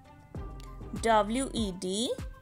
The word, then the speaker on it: Wednesday: W-E-D-N-E-S-D-A-Y. Here D is silent.